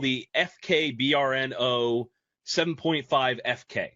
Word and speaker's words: Brno: BRNO, BRNO is pronounced Brno, and it's named after the city.